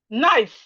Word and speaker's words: knife: Example, knife. Knife. If you hear, when I say knife, what's the first time you can hear? N, knife. Okay. But the proper spelling of knife is starting with K.